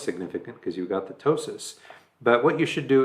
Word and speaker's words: ptosis: and that is called ptosis you don't pronounce the P just ptosis okay so looking at